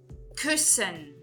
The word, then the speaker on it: Küssen: Küssen. Küssen. Então, verifiquem. Esses dois S's, eles estão entre duas vogais. Mas, eu não pronuncio de forma longa o U com trema. Eu pronuncio de uma forma curta.